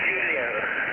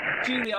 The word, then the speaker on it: Julio: Just Julio. Just put a J. Like the singer, Julio Iglesias. Julio.